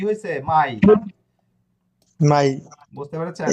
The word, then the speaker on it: mai: mia mai মিয়া না, mai এম এ ই, মাই। mai e এটা কিরকম হবে আপনি, দেখলাম প্রথম হচ্ছে এটা ভুল করছেন, এটা এই উচ্চারণটা কিরকম হবে আমি একটু দেখাই, জাস্ট আ মিনিট।